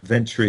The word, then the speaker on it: Ventre: Ventre, am I pronouncing it right, Jim? Ventry, yes.